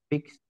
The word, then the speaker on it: fixed: do you remember yes fixed fixed very very good Jose say amazing job so because this one ends with an X the pronunciation is look at this with a t fix don't very good